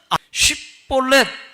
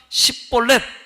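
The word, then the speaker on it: שִׁבֹּלֶת: 라고 말하면 뭐라고 얘기하느냐면 쉽볼렛 한번 해보라고 그럽니다. 쉽볼렛. 이 말은 시내라고 하는 뜻입니다. 에브라임 사람들은 쉽볼렛을 못해요, 발음을. 예? 그래서 쉽볼렛 하라니까 십볼렛 그랬어요.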